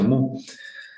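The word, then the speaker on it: μ: Se pronuncia mu. Algunos le dicen miu, pero bueno, lo de menos, ¿no?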